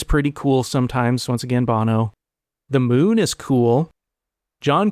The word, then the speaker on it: Bono: Bono sucks, but that is pronounced Bono.